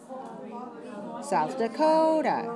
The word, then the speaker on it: South Dakota: How many syllables? South Carolina. 5. Stressed on the fourth, right? South Carolina. South Dakota. South Dakota.